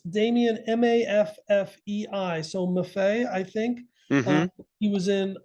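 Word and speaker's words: Maffei: bunch of things and it's damien m-a-f-f-e-i so muffet i think he was in he's the man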